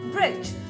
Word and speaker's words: bridge: Letter D is silent because this word is pronounced as bridge.